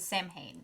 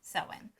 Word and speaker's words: Samhain: festival of samhain which is halloween halloween often mispronounced as samhain it's sewing so yeah so like that's his whole shtick